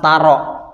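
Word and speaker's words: تَرَ: Maka perhatikan taro itu tidak boleh dibaca panjang. Taro boleh dibaca panjang ketika dia tidak bertemu lam.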